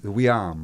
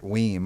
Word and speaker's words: Wiam: Like your name, Wiam, right? Yes. Not Weem, like everybody says, right?